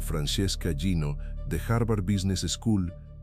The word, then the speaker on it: Francesca Gino: Un estudio de la psicóloga social Francesca Gino, pronunciado Francesca Gino, de Harvard Business School, demostró que la